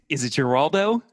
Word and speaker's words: Giraldo: And is it Giraldo?